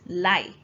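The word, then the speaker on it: 来: Now, the pronunciation of this kanji when combined with another one is lai.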